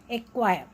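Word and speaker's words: acquire: जैसे एक्वायर, एक्वायर, इसमें देखो सी पे स्ट्रेस नहीं है, क्यू पे है, क्यू यू का मैंने क्या बताया था, क साउंड निकालता है, एक्वायर, क्वायर, ठीक है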